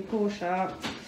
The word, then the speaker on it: Porsche: up um it's the it's a Porsche or Porsche but it's actually poor sharks uh my dad's always made me say it properly this is a portal